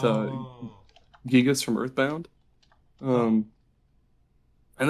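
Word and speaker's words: Giygas: No, it's the next one I have is I'm not 100% sure if you pronounce it Gygus or Gigas, but Oh, Gigas from Earthbound.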